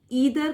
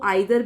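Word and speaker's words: either: ईदर को आइदर भी बोल सकते हैं, कुछ भी आपको जो बोलने में इजी लगता है वो आप बोल सकते हैं।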